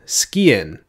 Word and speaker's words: sgian: knives with a review of the M48 Highland skiin that is how I've been told to pronounce it the M48 line a pretty popular